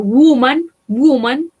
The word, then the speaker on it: woman: Woman, woman, mujer. Esta O se pronuncia como una U, ¿sí?